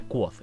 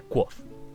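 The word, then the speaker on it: Kvothe: y luego entre paréntesis se pronuncia Quoth. O sea, es como un nombre como Quote, un súper raro de pronunciar, pero luego el autor ya te pone, se pronuncia Quoth.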